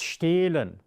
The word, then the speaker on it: stehlen: When you have this kind of threads of cheese coming between the macaroni, it makes the vowel standing before it longer. So it's stehlen.